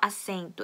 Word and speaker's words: assento: 좌석이라는 단어고 assento S가 두 개 붙었기 때문에 세게 발음을 해준 거겠죠?